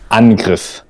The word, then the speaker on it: Angriff: Yeah, here on the bottom left side, it says attack in English, and in German you would say Angriff. Angriff.